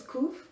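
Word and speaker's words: ק: sure to respond okay first uh letter is kuf the 19th letter of the Hebrew alphabet at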